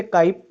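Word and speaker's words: χ: जो सिंबल होता है इसको दो तरीके से प्रोनाउंस करते हैं या तो इसे काई बहुत से लोग बोलते हैं या फिर इसको जीटा भी कहा जाता है तो मोल फ्रैक्शन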